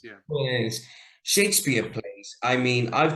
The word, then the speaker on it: Coriolanus: But another one as well, you mentioned I can't always pronounce it. Coriolanus. Coriolanus is Coriolanus, yeah. Coriolanus.